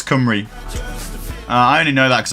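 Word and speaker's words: Cymru: Like obviously the word for Welsh in the word for Wales in Welsh is kumry, but it's spelled c y m ru. So if you were if you was trying to say that phonetically in English, you'd read it and go like simu kimu, but it's kumry.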